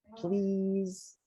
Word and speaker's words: please: english good job perfect these two um you know if you have two vowels it sounds like an e so this one is a smiley eye you have to smile especially because you're saying please rise they have to smile and then the s is vibrated so we say please right please can you say